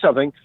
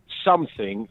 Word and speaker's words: something: Here's something. People that say the word something but pronounce it something with a K on the end.